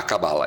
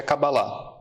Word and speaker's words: Kabbalah: seu conhecimento sobre a Cabala. Eu falo Cabala, mas é Cabala, né? No hebraico mesmo, a pronúncia correta seria Kabbalah. Mas no Brasil virou Cabala e tá tudo certo também.